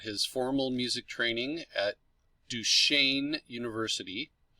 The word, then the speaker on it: Duquesne: He hails from Pittsburgh, Pennsylvania, got his formal music training at Duquesne University. It doesn't sound like the way it's spelled, but that's how it's pronounced.